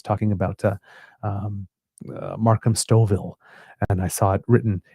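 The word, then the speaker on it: Stouffville: So I was reading it and again uh the gentle correction came from the kits that it was Stoville and thank you very much.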